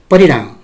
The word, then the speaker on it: परिणाम: त भाइ बहिनीहरू, सजिलोको लागि परिणाम, परिणाम भनेर पनि भन्न सकिन्छ, तर वास्तवमा हामीले अणको उच्चारणलाई अलि विशेष ख्याल गर्नुपर्ने हुन्छ। परिणाम।